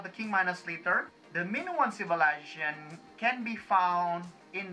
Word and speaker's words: Minoan: my tongue slipped and i mispronounce it is instead of like minoan civilization i end up saying minion civilization now min one civilization